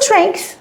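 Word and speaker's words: strength: بتاع الفلنجابس طيب شو سترين احنا هناخد بالنا ان في الجي هنا تنطق كانها ك كي ك كي ك سترين يعني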